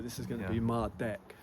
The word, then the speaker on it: Mardek: M deck. So, this is going to be Mard deck.